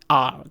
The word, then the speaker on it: Gunther: It is basically the h is silent in German most of the time if it's in the middle of something. Okay. So you would spell it Gunter, Gunther.